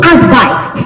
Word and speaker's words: advice: But, I have A PIECE OF ADVICE for you. CAN YOU ALSO SEE that my intonation changed? Advice. Advice. The stress is on the first when you're when you're looking at it as a noun.